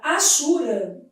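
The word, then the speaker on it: hachura: Na palavra achura. A letra H deve ser lida como gente, a letra H não é pronunciada na língua portuguesa, né?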